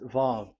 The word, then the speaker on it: Vav: So it's V as in vogue. So it's really V. How to read vogue? So the word, the shape vav is really pronounced V, like vogue. That is it, pronunciation. So here in this side, it's pronunciation. This is pronunciation. So according to the old Hebrew word today, those who, the owner of the words, I mean, so it's a V. So don't change it into W, and you will say